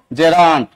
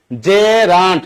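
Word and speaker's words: gerund: এই নাউনের সাথে দেখেন তো আইএনজি ফরম্যাট আছে, তার মানে এটাকে আমরা কি বলবো জেরান্ড। উচ্চারণ কি জেরান্ড, নট জিরান্ড। আপনারা ম্যাক্সিমাম এখানে ভুল করেন, জিরা জিরা বলেন, কোন জিরা টিরা এগুলি দিয়েন না।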